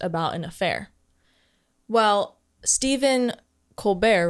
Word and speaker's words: Colbert: Well, Stephen Colbert, right? That's how you pronounce his name.